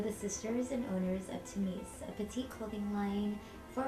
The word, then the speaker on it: Tamiece: We wanted people to say Tamiece and not Tamiece. Ours is spelled T-A-M-I-E-C-E, and Tamiece is spelled with T-A-M-I-S, so that's what she's saying, Tamiece, and we didn't want that.